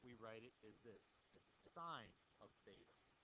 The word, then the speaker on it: sine: The shorthand way that we write it is this, sine of theta. Don't say sin, say sine of theta. That's the language we use in mathematics. And sine of theta is a